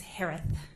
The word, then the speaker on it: Herath: maiden name last name is pronounced like Harris with a lisp it's herath h-e-r-a-t-h hello just as